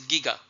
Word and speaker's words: giga: people pronounce it as but the Koran correct pronunciation his Giga and thousand gigahertz make a terahertz now thousand